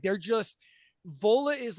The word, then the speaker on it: Vola: 2021 their 2021 album witness the band is vola uh beautiful wonderful metal it's got a little bit of what how do you spell it vola v o l a vola and the album